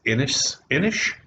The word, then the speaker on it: Inis: That's Inish, because I think you pronounce that last S as an H. SH. INIS, Inish.